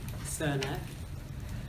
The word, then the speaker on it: Srnicek: alex williams and um nick cernak that's how we pronounce it that's um which was from her horse's mouth i think his and nick's ancestors when they moved to canada gave up trying to get canadians to pronounce it anyway but that you